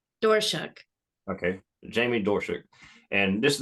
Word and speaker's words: Doerschuck: we have is it what's your last name how do you say it door shook okay Jamie dorschuk and